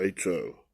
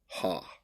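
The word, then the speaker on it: ὁ: Remember, that's the definite article, H-O, ha. We're going to pronounce it ho. They pronounce it on the Blue Letter Bible, ha.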